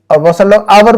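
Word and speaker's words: hour: सारे लोग कहते हैं अवर भी कहते हैं है ना तो ह की आवाज़ को नहीं निकलेंगे हावर्ड नहीं कहेंगे फौरन हवा ने हवा ने ह साइलेंट है वहां पर ओनली ओके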